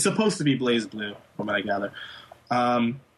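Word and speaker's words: BlazBlue: be pronounced but it's it's meant to be like blaze blue because it's kind of in the Japanese is a little bit of a a pun on like Brave blue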